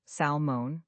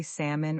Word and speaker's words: salmon: Many learners pronounce the L, salmon, but actually the L is silent. We say salmon or salmon.